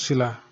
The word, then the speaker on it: sila: Never forget that there is a mabilis or fast stress mark on the letter A of sila. Always pronounce sila fast.